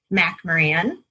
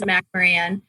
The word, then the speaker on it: McMoRan: and i'm with freeport mac moran oh i said it wrong and have the name of our company um it just looks a little different than it sounds but it is mcmaran the mac mo and